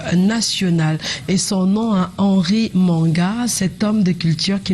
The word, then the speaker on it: Manga: souci c'est que Manga, donc M-A-N-G-A, dans le littoral, on dit Manga. Manga. Non, on dit Manga. On dit Manga. Maintenant, dans le centre, on dit manga. Pourtant, c'est le même nom, mais les prononciations sont vraiment différentes.